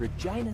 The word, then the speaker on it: Regina: w wilson out of regina saskatchewan lines up the shot this form looks good that's why regina rhymes with fun the accounting bullet scene